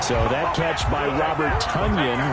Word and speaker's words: Tonyan: So that catch by Robert Tonyan, as in rhymes with onion.